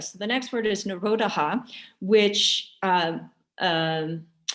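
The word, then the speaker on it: निरोध: the next word is narodaha which um um phonetically well it's it's n-i-r-o-d-h-a and then there's like an h that makes a ha at the end narodaha is cessation or stopping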